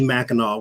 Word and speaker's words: Mackinac: in the daytime like i know that um mackinac thank you i knew i was missing it i i could never i'm tongue-tied lately i don't know if mercury's retrograde yet but you told me mackinac when you first said it though yeah so